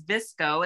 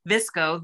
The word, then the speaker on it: VSCO: one number two is visco it's spelled v-s-c-o all capital letters and number three is Camera Plus and the number two so that's Lightroom I know Rachel Pence uses that visco VSCO and then camera